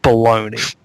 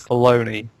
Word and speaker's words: Bologna: Or we're going to pronounce it stupidly like bologoney. We're going to go Yeah. Well, blogna sounds dumb. Let's call it baloney.